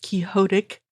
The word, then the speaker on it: quixotic: I mean, she's even admitted to thinking him, at the very least, quixotic, pronounced quixotic.